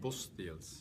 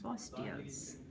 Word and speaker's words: Bosteels: Am I pronouncing your name right? Bosteels. Bosteels.